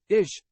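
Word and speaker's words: איש: into Hebrew the Hebrew word for man is pronounced ish and the word for woman is pronounced Isha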